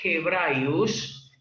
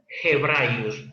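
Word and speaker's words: Ἑβραίους: Aquí Hebraius, pros Hebraius, que es la correcta lectura, pros Hebraius, esa G se representó aquí con la H, pero no la H muda como está en hebreos, sino la H como en el inglés, como la H como en hebreo.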